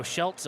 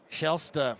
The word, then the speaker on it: Shela: looking for two here Shel Shela okay I'm saying it wrong again cuz I haven't wrong on they had it wrong on the roster thank you Cassie who sent me the correction Shela from the line looking for